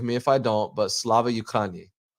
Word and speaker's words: Slava Ukraini: and I'm learning how to pronounce it correctly, so forgive me if I don't, but Slava Ukraini. Slava Ukraini.